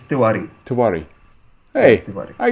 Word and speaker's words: Tewari: Is it Yes, Tewari? you are right. Bang on. First time, Yeah. All right, first, and then say your last name. It's Tewari.